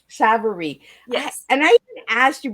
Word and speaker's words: Savarese: Miss Liz yep and my name is pronounced Savar savarie and I even asked